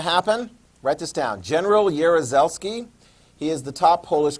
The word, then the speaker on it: Jaruzelski: I'm not even pronouncing that correctly, except for Jaruzelski. I've heard that enough times to know that's how that's pronounced correctly, but his first name, yeah.